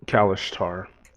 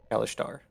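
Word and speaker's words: Kalashtar: How do you pronounce that? I'm sorry, Perry. Kalishtar. Kalishtar.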